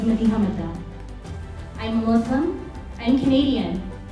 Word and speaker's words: Madiha Mada: Madiha Mada, pronounced by my parents as Madiha Mada.